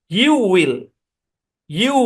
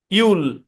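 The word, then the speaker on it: you'll: হচ্ছে আমার মূল ফর্ম এটার হচ্ছে ইউল বাংলা যেটা আছে এটাই ভাই ইউল আর আমারটা শুনে নেন ইউল ইউল ইউ উইল নো যদি আপনি ইউ উইলই বলেন তাহলে তো এটাই হয়ে গেল তাহলে তো কন্ট্রাকশন হইলো না ইউল ইউল বুঝছেন ইউল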